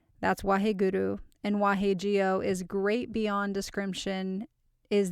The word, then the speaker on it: Jio: So if you're verbal like I am, it's Wahe, W-A-H-E, Guru, G-U-R-U, Wahe, W-A-H-E, Jio, J-I-O. I'm sure you'll find other spellings out there. People are just phonetically trying to make it match how it sounds, but it's Wahe Guru Wahe Jio.